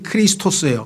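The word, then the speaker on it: Χριστός: 그래서 헬라어는 이 표현이 발음이 크리스토스예요.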